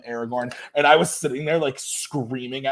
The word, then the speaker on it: Aragorn: he was like yeah I'm pretty sure his name is Aragorn I've heard it pronounced Aragon in some places in some of them in some of the movies they call him Aragon but I've always called him Aragorn and I was sitting